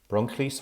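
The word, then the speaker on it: Bronllys: us at engagement team paris teaching health board bronchlease hospital bronchlease brecken ld30lu and bronclease is spelt b-r-o-n-l-l-y-s so that's engagement team powers teaching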